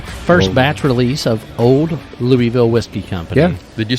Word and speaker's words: Louisville: live at the first batch release of Old Louisville Whiskey Company. Yeah. Did you say Louisville? Did you say Louisville? Louisville? I don't know I'm where sorry, my that bad. is. Louisville. There we go. Louisville.